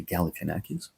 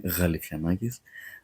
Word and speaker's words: Galifianakis: They say Galifianakis, but it's pronounced as Ga in the beginning, Galifianakis.